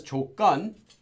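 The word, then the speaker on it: 조건: word - gone now if actually pronounced as Cho gun but it's not written that way Cho gun so gun means a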